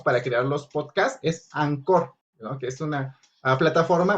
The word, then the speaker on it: Anchor: Se escribe Anchor, pero se pronuncia Maestro, Anchor. Anchor.